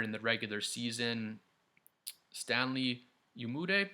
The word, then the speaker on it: Umude: Stanley Umude, I think Umude is the way you say his name.